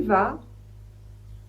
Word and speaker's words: vas: Tu vas tu vas le V se prononce toujours va. Pas de surprise. Le A se prononce A. Toujours pas de surprise, on ne prononce pas le S.